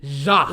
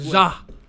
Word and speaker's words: Ja: Ja. You got to say it like Ja.